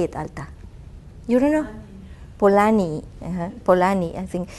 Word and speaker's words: Polanyi: So I came to this conclusion of using Karl Polanyi. In Spanish you say Polanyi. How do you say it, Alta? You don't know? Polanyi.